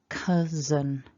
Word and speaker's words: cousin: as an e but remember it's a little schwa so it's very weak zen is the ending an cousin um so the top